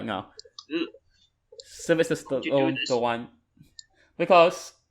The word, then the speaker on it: Stallone: Yeah, Stallone. That's how you pronounce his last name, Stallone.